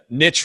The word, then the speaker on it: niche: Yeah, I always like to say niche rhymes with rich.